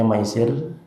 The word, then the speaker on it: maisir: Kata maisir, huruf mim, ya, sin sama ro, bacanya maisir, itu artinya judi.